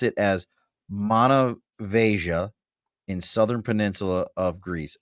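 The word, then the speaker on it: Monemvasia: Rick said you pronounce it as Manavasia in southern Peninsula of Greece.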